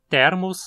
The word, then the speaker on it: Thermus: Thermus só tem 2 sílabas, então só pode ser paroxítona.